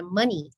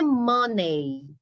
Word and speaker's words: money: com relação a palavra Mani não é money é mani toda palavrinha terminada em e y em inglês grande maioria né o som do Y vai ser um som de i tá então eu falo